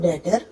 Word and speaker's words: debtor: जैसे DEBT date होता है तो या DEBTOR डेटर, तो बी शब्द बी अक्षर साइलेंट हो जाता है।